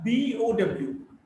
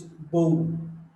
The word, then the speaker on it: bow: Now, BOW, when there's a weapon with which you attach your arrow, you shoot, is bow. Now, when you bend forward to show respect to someone, is bow. Is bow. Men bow, the women curtsy. So, bow to bend.